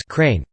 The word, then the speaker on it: Crane: His character in this movie named White Crane, and mostly referred to or addressed as Crane, frequently pronounced in a manner that minimized the R sound.